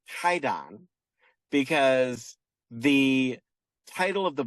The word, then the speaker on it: Kwaidan: It's a collection of different short stories, but this collection uh you were right by you're you pronounced it correctly. It is called Quaidon, but really it's Kaidon because the title of the book on which